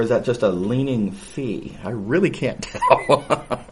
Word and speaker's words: phi: a little bit tragically they use the greek letter phi pronounced fee um and i say